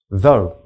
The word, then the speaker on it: though: which rhymes with how though which rhymes with toe bought which rhymes with